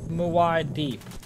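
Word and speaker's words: Muad'Dib: Pronounced Muad Deeb.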